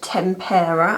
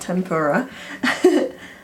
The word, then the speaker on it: tempera: gonna go in with tempera I finally said it right not tempura and I'm just gonna